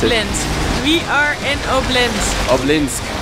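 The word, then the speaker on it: Обнинск: We had a two-hour drive to Obninsk.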